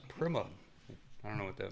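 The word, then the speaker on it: Prema: Honestly, I thought it was premier racing this whole time and Will Buxom was just pronouncing it like a European. Maybe that's true. It really is Primma.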